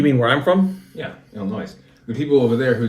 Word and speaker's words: Illinois: Yeah, Illinois. The people over there who don't believe in. The S is silent.